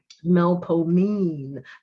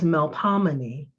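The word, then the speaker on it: Melpomene: sound as an old the final syllable is a lean stressed syllable in which the e is long as in mean years after i left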